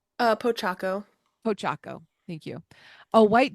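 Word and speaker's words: Pochacco: Kirsten, how do you pronounce this one, number 4? Pochaco.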